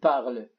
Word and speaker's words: parles: ES إذا je parle tu parles الS لا تلفظ هو نفس اللفظ je parle tu parles نفس اللفظ ولكن الشخص الثاني حسب